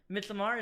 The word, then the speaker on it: Midsommar: Midsommar, is that how it's pronounced? Yeah, that's how Aster says it.